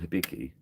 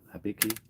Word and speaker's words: Hibiki: I always thought it was called Hibiki. He called it not Habiki. Habiki. How else would you pronounce it?